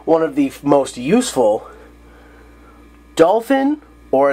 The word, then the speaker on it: Dolphin: of the most useful dolphin or as they pronounce it dolphine doy go